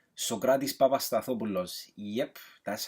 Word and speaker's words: Papastathopoulos: Number 1, Socrates Papastathopoulos. Yep, that's how you pronounce it.